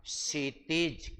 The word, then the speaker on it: क्षितिज: क्षितिज। क्या कहलाएगा? क्षितिज नॉट क्षितिज नहीं क्षितज शुद्ध उच्चारण है।